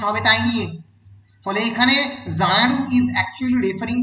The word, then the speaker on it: Xanadu: তোমরা যদি ভালো করে ক্লোজলি রিড করো তাহলে দেখবে যে জানাডু উচ্চারণটা হচ্ছে জেড দিয়ে, and Z is the last letter in the English alphabet, তাই তো?